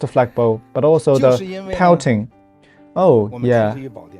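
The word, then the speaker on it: Poating: flagpole, but also the pouting. Oh, yeah. Why it is spelled in P-O-A-T-I-N-G? Well, initially we tried to register the traditional English word pouting.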